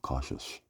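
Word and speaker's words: Koshus: He calls himself cautious. And that's how it's spelled K O S H U S.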